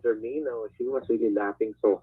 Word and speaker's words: Germino: the tape, she says, "Your name is Geronimo? Oh yeah, Is yeah. that how you say it, Geronimo?" She's Geronimo. really mocking me. I'm not offended though. So, Yeah. and then she about my last name, and then when I said Germino, she was really laughing